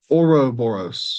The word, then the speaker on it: Ouroboros: Auroboros.